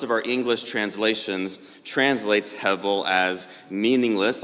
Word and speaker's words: hevel: There's one Hebrew word that shows up over 40 times throughout the 12 chapters of Ecclesiastes, and the word is hevel.